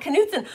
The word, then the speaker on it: Knutson: got it knutson okay i didn't know if the k was silent angelo or if it or if it wasn't silent so so normally like knight as in k-n-i-g-h-t the k is silent so this was my